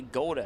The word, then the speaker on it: Goda: say Goda, but I believe it's actually Goda. And the reason why I believe that is because one of my friends, broadcasters, who I've known for about maybe 6-7 years, never gets a name pronunciation wrong. And when he did a Fusion game here last week, he said Goda. So I'm going to go with Goda because I trust him that much.